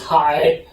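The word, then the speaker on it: 海: So the second word pronounces high, means what?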